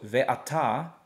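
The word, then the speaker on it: וְאַתָּה: so ve, ah, ta, and the hey does not have any sound. So the hey is just going to be just a silent letter, okay? Just let it hang. So ve'ata, ve'ata, and these are is what that's saying, ata.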